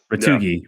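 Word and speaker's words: Retegui: Retugi.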